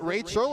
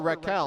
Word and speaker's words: Raquel: Is it Rachel or Raquel? Raquel, sorry. Oh, there you go. Raquel. Actually, I said it wrong, and then you said it.